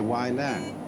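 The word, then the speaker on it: Wei Lang: and they say Wai Lang. But this is simply the Cantonese way of pronouncing the same characters, and this is the Mandarin way.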